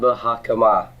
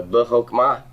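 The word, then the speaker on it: בְּחָכְמָה: You sure it's not buh hakama? There's no metheg. If there's no metheg, it's a short O, right? If it's short, that shiva is silent. So good. So buhokma.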